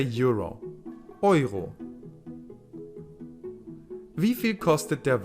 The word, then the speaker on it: Euro: And that's how you say Euro.